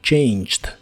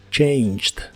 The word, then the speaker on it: changed: suena j y y la e no se pronuncia solo changed changed usaremos el verbo ver